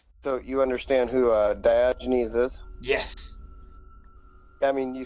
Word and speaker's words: Diogenes: for discord cool so you understand who uh diogenes is yes i mean you said it right